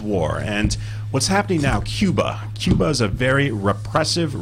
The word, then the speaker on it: Cuba: President Kennedy pronounced it Cuba, not Cuba.